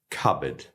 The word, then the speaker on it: cupboard: And here, the P is totally silent. We just say cupboard.